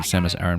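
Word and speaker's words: Samus Aran: So to answer your question D or to reply to your comment, they have officially pronounced your name Samus Aaron for quite some time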